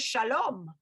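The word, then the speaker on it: שלום: an american pronunciation versus like the israeli pronunciation is shalom you know so do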